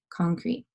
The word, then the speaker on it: concrete: So this whole syllable is crete, crete. So there's the CR blending together, the E is saying E, that's the long vowel sound, and then the second E is not saying anything, so I'll cross it out.